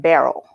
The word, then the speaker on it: Barroux: all right mr i'm i think i should pronounce that barrel barrel all right i have to touch up on my french there oh oh miss shanika